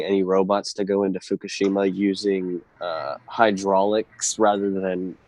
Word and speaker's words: Fukushima: after Fukushima and the pr correct pronunciation is Fukushima uh the Japanese whisper the IMA um the uh I'm it's not my houra accent that I'm saying Fukushima hey snork I've got